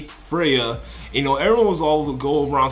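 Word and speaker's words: Freyja: in an ice cage her name was like Freya it's it's spelled like f r e y j Freya you know everyone was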